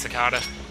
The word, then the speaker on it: cicada: There's a sand cicada. Cicada. I think it's so weird when a word starts with C and yet the C is pronounced as an S.